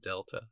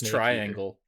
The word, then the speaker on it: Delta: announced Metal Gear Solid Delta that's how you pronounce that I thought it was triangle wow let's use it it's Delta it's Delta oh okay cut that out